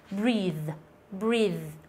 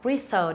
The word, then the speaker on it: breathe: Cái này đọc là breathe, không phải là breather nữa, breathe đúng không?